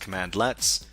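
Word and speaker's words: cmdlet: PowerShell commands are called commandlets, which is command which is pronounced commandlets.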